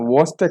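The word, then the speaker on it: Chvostek: इस कंडीशन को अपन बोलते हैं वॉस्टेक साइन। सी एच इसमें साइलेंट रहता है और ऐसे बोलते हैं वॉस्टेक, वॉस्टेक साइन, वॉस्टेक साइन।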